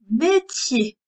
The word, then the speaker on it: métier: Métier. M-E pour faire mais. T-I pour faire métier. E-R.